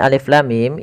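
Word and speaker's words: الٓمٓ: Jangan sampai kita membacanya misalkan alama, misalkan ini bacaan yang kurang atau bacaan yang salah. Ya, maka apa yang perlu kita kerjakan di sini? Maka kita harus baca dengan huruf-hurufnya. Maka kita uraikan satu-satu.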